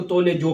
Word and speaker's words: Tous Les Jours: सके तो ठीक है लेकिन इसको बताया गया की इसको टोल जो पढ़ते हैं ठीक है ये इसका